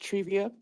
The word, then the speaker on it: Trivia: guys to know that my name is pronounced trivia Amber and then my Aunt